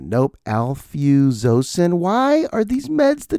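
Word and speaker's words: alfuzosin: It was called Alfuosin. Nope. Alfosen. Why are these meds the toughest words to pronounce?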